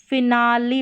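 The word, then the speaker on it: finale: Next यहाँ पर देखिए, लेकिन कुछ गिने चुने शब्दों में ई का उच्चारण ई होता है। जैसे कि यहाँ पर देखें, यहाँ पर है उच्चारण दे रखा है, यहाँ पर इसको फिनाली पढ़ रहे हैं, यहाँ पर ई का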